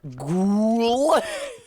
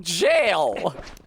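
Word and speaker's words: gaol: They pronounced that word ghoul because in what world is g o a l jail?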